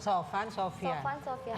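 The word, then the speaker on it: Sophan Sophiaan: Namanya SOPH bacanya F ya, bukan P. Please. kita orang Bandung, jadi nggak bisa ngomong F. Sofyan. Sofan Sofian.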